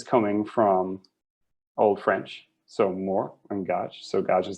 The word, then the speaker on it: mort: are we saying okay that's why you pronounce it more not mort because it's from french and that makes total